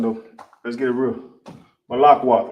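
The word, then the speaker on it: מלכות: You got ma right here. Boom. You got la, la. Ka, no A right there. So you know this is connected. Lak. Wa, wa. Tha, tha. No A at the end of tha. You know these are connected. Ma, lak, wath. As simple as that.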